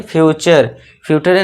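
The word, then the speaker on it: future: च से साउंड देंगे। और इसे क्या पढ़ेंगे? फ्यूचर फ्यूचर नहीं फट नहीं फ्यूचर।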